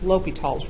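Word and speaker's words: L'Hôpital's: how you spell it it looks like L apostrophe hospital with the S left out of it the way you pronounce it is long Oh low P long e l'hopital's rule it's named after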